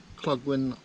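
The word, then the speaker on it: Clogwyn: mower made my way across to cloggwin that's how you say it and then from here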